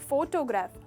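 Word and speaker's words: photograph: इसी से जुड़ा और एक वर्ड देखेंगे, ये यहाँ पर स्ट्रेस फोटोग्राफ, फो पर था, पहले हिस्से पर था, पर यहाँ पर स्ट्रेस फोटोग्राफी।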